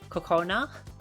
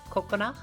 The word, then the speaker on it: Kokona: a lot of people, they say Kokona. So like they say Coco and then like a little gap and then na. Whereas the actual pronunciation that I go for is Kokona, which is like ko and then a little gap and then kona.